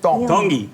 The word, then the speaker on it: Tongi: Iam Tongi. Tongi. You pronounce the T's like a D in the Tongan culture.